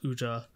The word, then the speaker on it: UZA: So yeah, definitely check out Uja because UZA is how it's spelled.